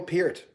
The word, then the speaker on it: Peart: albums of all time neil peart it's ear look at ear pierc i